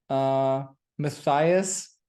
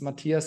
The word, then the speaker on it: Matthias: Matthias for the Americans, Matthias, the German pronunciation.